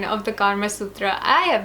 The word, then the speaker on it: Kama Sutra: life is the book, the Kama Sutra, or in a westernized pronunciation, the Kama Sutra.